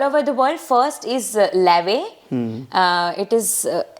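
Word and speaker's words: Laufey: yeah okay all over the world first is La uh it is l l a u f y but it's pronounced as La she makes amazing JZ where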